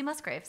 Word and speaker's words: Musgraves: she does Casey Musgraves Musgraves why do I always feel like I'm saying it wrong Muses no Casey Musgraves that's right yeah I love I